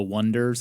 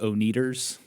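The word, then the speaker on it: Oneders: Remember, they were called The Wonders and it was spelled O N E D E R S and and the announcers kept calling them the Oners.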